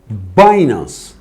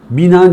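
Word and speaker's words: Binance: da borsalardan da bahsedeyim baynaz bina diye okuyan da var telaffuza takılmayın arkadaşlar Balyoz Borsası Benim Benim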